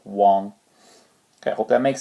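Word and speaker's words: wang: could even have like Wong Wong is really U but instead of spelling it u n we spell it w a n g for Wong okay I hope that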